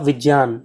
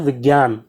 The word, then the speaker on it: विज्ञान: हान विज्ञान ठीक है इसका सही उच्चारण क्या होगा विज्ञान ज्यादातर लोग क्या बोलते हैं विज्ञान ठीक ज्ञान ठीक है